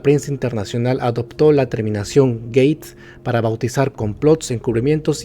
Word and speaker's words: gate: El sufijo gate, pronunciado gate, se utiliza universalmente para